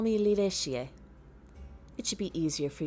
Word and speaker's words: Lireshie: In that case, you may simply call me Lireshie. It should be easier for you to remember. Let's practice saying my name, shall we? It's pronounced Li-re-shi-ye. Repeat after me. Li-re-shi-ye.